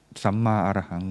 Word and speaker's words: Samma Arahang: In case you wonder what does it mean, it's a Pali language, but written in Thai language style. It pronounced Samma Arahang, which means loosely the path of purity and freedom from the negative thought or negative thing.